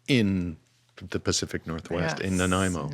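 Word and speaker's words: Nanaimo: was and uh in the Pacific Northwest in Naimo. Naimo. Wow. Excellent pronunciation by the way.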